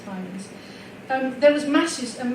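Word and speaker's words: Symonds: and by the way Simons is the way the Grants pronounced it and they knew them all their adult life. I know a lot of people say Simmons but they say Simons.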